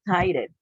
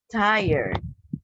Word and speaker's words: tired: you is this one we don't say tied it okay we say tired tired tired like that